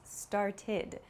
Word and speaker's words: started: So for example, start becomes started. It has an ID sound.